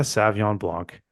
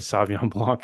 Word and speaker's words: Sauvignon Blanc: There's a whole extra syllable in there.